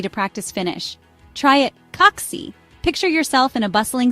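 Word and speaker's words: kaksi: word kite then say oxy it rhymes with taxi notice how the a in Oxy is short and sharp similar to the a in Cat Imagine taking a taxi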